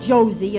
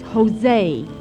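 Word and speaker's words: José: It's not Josie, it's Jose. In Spanish, J is pronounced like H.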